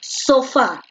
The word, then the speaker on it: sofá: con puntos a sofá donde tiene la mayor fuerza de voz en la fa o en lazo en la fe porque tú dices sofá tú no dices sofá tú dices sofá por eso la fuerza de voz recae en la última si la fuerza de